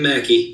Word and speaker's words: McKee: And did I say it right this time? Yep, Mackey. You're good. Mackey. All right. I always want to say McKee, but Mackey.